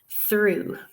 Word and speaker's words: through: I'm sure you're all familiar with, words like through, THROUGH. You would never guess that the ROUGH combination there makes ooh, right?